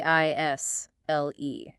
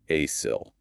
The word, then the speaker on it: aisle: brain wants to say asil. It totally does. But that seal is a ghost. It's just not there. It's silent. Completely silent. It's pronounced isle. It rhymes with smile.